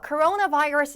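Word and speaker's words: coronavirus: 병에 있어서 발병 창고 했다라는 뜻이 되고요 자 발음은 코로나 virus outbreak 이렇게 돼요 코로나가 아니고 코나 virus 이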